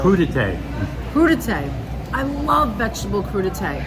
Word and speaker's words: crudité: Crudité.